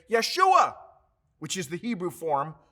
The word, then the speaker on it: Yeshua: not of great value there is no j sound in the hebrew language so joshua was actually pronounced yeshua in hebrew if you open to